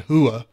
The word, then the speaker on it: Rua: Dan handle Henderson against Shogun hua who i pronounced rua before but you that you